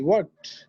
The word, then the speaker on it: worked: I worked. T উচ্চারণ worked এর উচ্চারণ সাধারণত টির মতো হয়। I worked শক্ত, Worked.